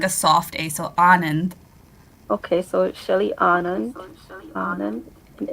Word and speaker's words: Anand: first day is like a soft day so anand okay so shelly anand and illustrated by nabi